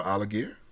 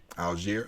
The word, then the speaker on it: Algier: a Forefront pick um Tyler alligator is that pronouncing his name correctly algier okay my bad like Algeria okay I gotcha um out